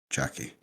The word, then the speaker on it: Chucky: is yeah one of those times just just pronounce it Chucky all right so we we we've settled that